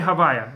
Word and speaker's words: הויה: Since we can't pronounce it outside the temple, instead we say Havyah, a different permutation of the same name.